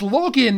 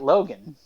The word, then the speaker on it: Login: It is spelled with an I, yes. Yeah. But it is said Logan.